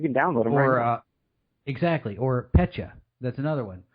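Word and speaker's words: Petya: download Aurora exactly or Pecha that's another one I think I pronounced that correctly it's PE tya either way that's the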